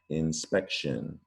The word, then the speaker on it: inspection: the way it looks it's a latin root carried over to english but we pronounce it different than it looks sean or shin inspection all right that's it